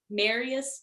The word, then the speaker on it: Marias: Marias Dezendorf, like you're gonna marry us.